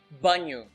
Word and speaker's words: banho: Take for example the word banho. Banho. This nha sound is hard to pronounce because it's hard to imagine how this NH will be pronounced like nha.